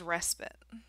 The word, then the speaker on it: respite: a variety of pronunciations the correct way of saying it is respit respit is a temporary